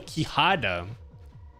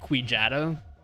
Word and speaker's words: kihada: my name to kihada oh kihada because i was gonna say quichata that's that's not how you pronounce it thanks for four bits